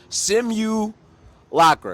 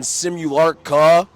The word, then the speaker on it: Simulakra: guess not but yeah simu Locker it's like simulation okay take out the a put an r on it add a CR at the end what that's how you